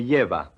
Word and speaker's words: lleva: remember that the double L is pronounced like the English Y. Repeat. Me lleva.